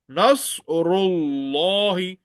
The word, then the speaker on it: نصر الله: إذا جاء جاء نصر نصر الله Nasrullah. Ra is thick and Sa is very thick and high. So Nasrullah Lam Jalala will be thick.